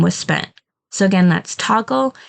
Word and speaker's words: Toggl: for your clients then I highly recommend using toggle to keep track of the hours that you're working this is spelled t o ggl and it's just basically